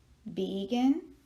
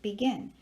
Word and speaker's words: begin: stronger do we say vegan or do we say begin and it is the last one we say begin so if we are